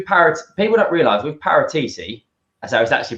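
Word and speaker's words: Paratici: is we do parrots people don't realize with parateeti as i was actually pronounced believe it or not i got top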